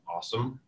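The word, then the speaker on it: OSSM: open source security meetup also known as OS sm or pronounced awesome this year will be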